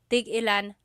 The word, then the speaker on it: tigilan: So tig-ilan, when there's a hyphen in it, you have to have that glottal stop. Tig-ilan. That means how many of each. When there's no hyphen, tigilan, tigilan.